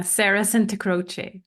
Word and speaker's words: Sarah Santacroce: Yeah, Sarah Santacroce.